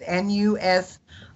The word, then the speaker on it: Nusinov: We better give them how you spell it. It's Nusinov.